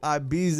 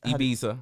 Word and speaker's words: Ibiza: Am I saying it right? Ibiza or Ibiza. Ibiza. We say Hispanics say Ibiza.